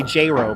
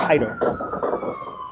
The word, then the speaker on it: Haido: Some people say JRo, but it's Haido. Pronounce it with an H.